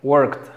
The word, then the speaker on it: worked: Después tenemos worked, fíjate, no se pronuncia la E, pero es KT, worked, worked.